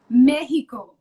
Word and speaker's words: México: You have to say Mexico. Mexico. Okay. Yeah. That's the right way to say it.